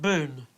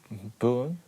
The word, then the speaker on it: Boone: would you pronounce pat boone pat boom just about right boone with an end b double o n e boon boom boom boom boom boom boom you're not d not boomed boom boom boom while cj